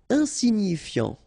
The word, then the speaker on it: insignifiant: Insignifiant. Okay, final T not pronounced, so you get this I-A-N, yan, so F before, fiant. Insigni, okay, remember, G-N-I, ni, ni, insignifiant.